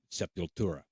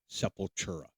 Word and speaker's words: Sepultura: and eigor brothers cavalera for formed and started sepura that's how you pronounce it I've heard many people call them seura it's not seura it's se you have to roll the the